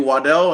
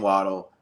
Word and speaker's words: Waddle: no call me Jalen waddle that's you know so it is true his original last name is pronounced Waddell but he prefers waddle I don't know if he prefers it because everybody calls him that